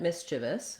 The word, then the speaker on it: mischievous: So looking at mischievous, we have first syllable stress on the miss syllable. Again, this is a little bit misleading because we have this CH here. It looks like it might be mish, or it looks like